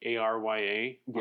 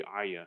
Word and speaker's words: Arya: right I think it's technically spelled like a r ya Arya but I think they say Aya I remember how they say I just remember I